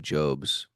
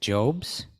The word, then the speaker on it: Jobs: your friend of mine Steve jobes is IT jobs Steve Jobs I believe